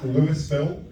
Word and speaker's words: Louisville: For Americans here, that's Louisville, and for English people, it's Louisville. One, two.